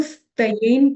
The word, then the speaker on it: स्त्येन: नहीं, ई नहीं है, स्त्येन य है, इसलिए वो थोड़ा सा ई के जैसा लग रहा है, लेकिन एक्चुअली वो ई नहीं है.